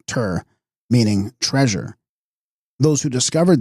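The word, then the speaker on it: གཏེར: a term derived from the Tibetan word gur pronounced tur meaning treasure those who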